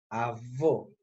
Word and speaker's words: avô: Avô. É com uma pronúncia fechada, cerrada.